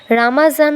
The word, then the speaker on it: রমজান: হলো তাপমাত্রা বা শুষ্কতা অরবিয় মুসলিম দেশ যেমন ইরান পাকিস্তান বাংলাদেশ ও তুরস্ক এটিকে রামাজান বা রমজান বলে উল্লেখ করেছেন কারণ আরবি বর্ণ জোয়াদ তাদের জন্য বর্গের জ উচ্চারণ করে অর্থাৎ জ উচ্চারণ করে আমাদের প্রতি রোজা ফরজ